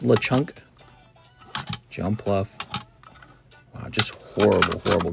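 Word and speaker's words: Lechonk: Oh my god, there's the Lchunk. It's pronounced Lechunk.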